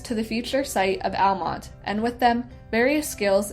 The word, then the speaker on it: Almonte: figure and agreed to name the town Almont pronounced the English way rather than the Spanish Way by 1871 Almont was